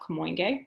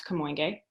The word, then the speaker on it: Kamoinge: how do you pronounce Kamoinge? So different artists actually have slightly different pronunciations of it, but I use Louis Draper's pronunciation from this video.